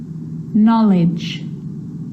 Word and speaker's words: knowledge: A K is not pronounced when it comes before an N, like knife, no, knee, knock, not, knowledge.